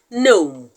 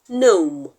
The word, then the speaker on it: gnome: clusters are words like gnome gnome in the word gnome g n o m e the g is silent and the N is pronounced so in that word